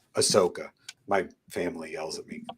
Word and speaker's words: Ahsoka: like the um young Osaka I I always say it wrong say it for me Jesse Ahsoka Ahsoka my family yells at